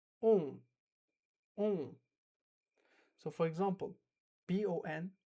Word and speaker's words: bon: So for example, B-O-N, bon, bon. So I don't actually say bon. No, I'm not pronouncing the N, right?